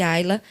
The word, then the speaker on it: Ila: para poder aproveitar porque o nome dela é Ila pronuncia-se Aila em português então para aproveitar o